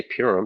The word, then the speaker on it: Purim: I say Purim because that's how it's spelled and that's what it looks like.